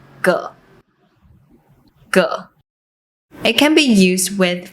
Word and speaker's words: 個: When it’s used as a measure word, it often loses its tone and is pronounced with a neutral tone. 個 It can be used